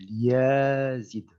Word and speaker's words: Yazid: Je vais vous apprendre à prononcer mon nom correctement. Donc, vous devez bien articuler, c'est Yazid.